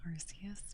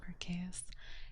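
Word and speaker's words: Arceus: sorry rks I always I've always said it arus but it's actually pronounced archus and it kills me inside um but with Ino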